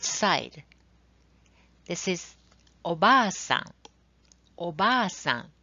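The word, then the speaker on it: おばあさん: You can see a word obasan on the left side. This means aunt. How about the right side? This is Oba-san. Oba-san. You can see long vowel in a word.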